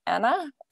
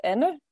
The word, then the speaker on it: Anne: Normally, people call me Anne or Anna, but it's Anne.